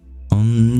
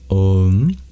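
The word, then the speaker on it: ॐ: There is a science behind the correct pronunciation of Om. There's something called sandhi, which is the joining of sounds. And the sound O is formed by the joining of A and U.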